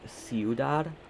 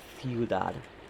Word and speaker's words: ciudad: So, listening to that, normally I would have said, like, ciudad, but ciudad. Ciudad is how that C is pronounced.